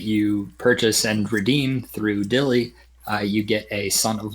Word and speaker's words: DYLI: Again, it's DYLI, pronounced Dilly. It's an acronym.